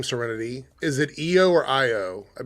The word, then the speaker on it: Io: But, it's pronounced IO.